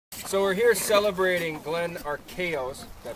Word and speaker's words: Arcaro: So we're here celebrating Glenn Arcaro's, did I pronounce that right?